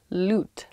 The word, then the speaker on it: lute: Loot, like a loot. L-U-T-E.